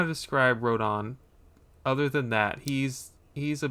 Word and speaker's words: Rodin: I thought his name was Rodin, but Rodon is how it's pronounced by everyone on YouTube, so that's got to be it.